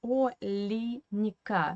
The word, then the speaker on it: Оленька: to the Russian phonetics, because Оленька is written with Е in the second syllable, but Russian people pronounce this name in Russian language as Оленька with an E in the middle. Because this Е is an unstressed weak position without stress, and we pronounce, according to the Russian phonetics law, we pronounce this Е as I.